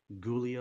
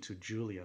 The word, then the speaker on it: Giulia: / now you know emphasizing the G like ghoulia or gilja ghoulia goo ghoulia something like that can't pronounce it exactly how they used to pronounce it but now they changed it the pronunciation - Julia like you know making the G more into like a J but definitely you know